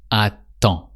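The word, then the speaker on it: attends: So you don't say the d sound at the end. It's just aton.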